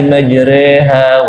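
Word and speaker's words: مجريها: Bismillahi majreha wa mursaha. Majreha itu namanya imalah. Jadi i-nya dimiringin, lebih condong ke e, itu namanya imalah.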